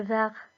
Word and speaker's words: verre: Pourquoi me donnes-tu le verre? J'ai besoin du verre, de la couleur verte, si tu préfères. Alors, pourquoi Hiba s'est trompé? Tout simplement parce que les deux mots se prononcent de la même façon.